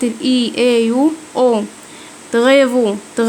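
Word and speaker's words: travaux: تغيفو نطقت الاي يو او، تغيفو اعمال.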